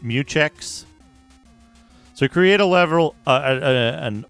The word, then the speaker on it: mutex: use a regular mutex it should be meex right it's pronounced meex so create a level